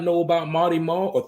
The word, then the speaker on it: Mawty Maw: It's a W for a reason. So I could put that out there. It's Mawty Maw for anybody out there who has a hard time pronouncing it.